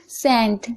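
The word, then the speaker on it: scent: सेंट, सेंट यहाँ पर आप देख रहे हैं एस के बाद सी है तो सी साइलेंट है।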